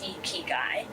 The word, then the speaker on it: Ikigai: So the tool is basically called the Ikigai, pronounced Ikigai.